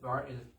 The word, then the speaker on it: Barner: Barner is in basketball.